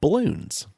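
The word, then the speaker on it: Bloons: iterations of, was called Balloons. Say that one more time. Balloons? Balloons, yeah. They were balloons, B-A, but it's spelled balloons, B-L-O-O-N-S.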